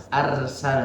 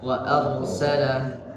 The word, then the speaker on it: أرسل: Nah itu tadi, ro-nya itu kan harus tebal. Jangan dibaca arsala tapi ar. Ya, wa arsala.